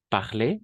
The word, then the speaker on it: parler: le rôle et au niveau de la prononciation on va prononcer de la même façon parler à l'infinitif le participe passé parler d'accord un autre exemple